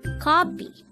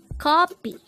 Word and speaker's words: 커피: Keopi. Keopi. This is pronounced as a two-syllable word. The first syllable is ko, the second syllable is pi.